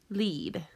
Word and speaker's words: lead: leading pleae so here these save a long e sound lead so over here you